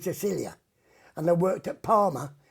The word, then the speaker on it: Sicilia: And while I was there, I went to the Sicily, but in Italian it's called Sicilia.